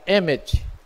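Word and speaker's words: אמת: formada e 323 consoantes se pronuncia emmett que o aleph é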